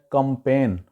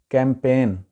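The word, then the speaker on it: campaign: اگلا لفظ ہے جی کیمپین، اس کو وہاں پہ بولا جاتا ہے کمپین، یہ غلط ہے، ایکچول اس کی پروننسیشن ہے کیمپین، کیمپین۔ یہ جیسے سیاسی لوگ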